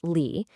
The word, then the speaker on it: Li: Li, it's pronounced Li, is all about ritual, structure, and discipline.